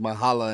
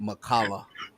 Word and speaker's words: Mahala: he told me his name is pronounced Mahala and not Makala.